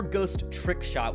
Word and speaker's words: Ghostrick: totally skipped it over we have ghost rick shot or ghost trick shot which is actually how it's supposed to be like pronounced i guess that's the whole play on words with it i totally forgot